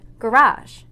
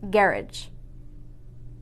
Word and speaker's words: garage: both countries use english some of the word stress varies making those words sound completely different for example this word is pronounced garage in america but in england it's pronounced garage in module 1 we